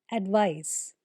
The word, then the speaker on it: advice: Advice with a C is pronounced with an S sound, advice, whereas the other one has a Z sound, advise, just a slight difference.